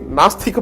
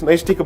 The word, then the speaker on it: Naishtika: In fact, in the court, most of the time I heard people calling it Nastika Brahmacharya when in fact it's Naishtika Brahmacharya.